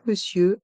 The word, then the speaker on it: monsieur: crrooc madame dans Monsieur le O et le N se prononcent e et le E à